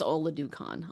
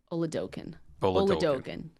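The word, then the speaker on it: Oladokun: I don't think it's Oladukan. I'll tell you that. Is it? No. I don't know how to pronounce his name. Oladokin. Okay, yes, there you Chris go.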